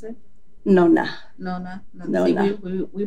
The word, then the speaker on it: nonna: How did you pronounce it? Nonna.